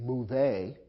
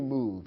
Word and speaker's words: move: the verb to move it ends with a silent e although the e is there we don't pronounce it we don't say move a in english simply move it's as if the e wasn't present so we consider it